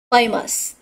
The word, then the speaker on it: famous: Famous. Đó, rồi. Đây là tính từ nhá. Chúng ta sẽ nhấn stress vào một.